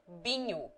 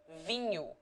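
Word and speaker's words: vinho: in menu for example the people generally say binu instead of vinyu wine and instead of soldier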